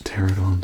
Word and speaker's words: Pteranodon: I mean the pterodon, and of course, pterodon spelled with a P at the front, just to be extra confusing for you.